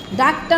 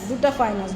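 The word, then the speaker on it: Duttaphrynus: হচ্ছে ডাক্তার ফ্রাইনাস মেলানোসটা ডাকটা না মনে হয় দুটা দুটা উচ্চারণ হবে ডাকটা না ডি ইউ তো ডাবল টি ডুটা ডুটা ফ্রাই হ্যাঁ ডুটাফাইনাস ডি ইউ তো ডুটা তারপরে দোয়েল হচ্ছে কপসিকা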